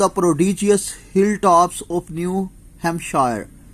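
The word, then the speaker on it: New Hampshire: प्रॉडिजियस hill tops of न्यू ham share P silent कर दे इसमें तो वह क्या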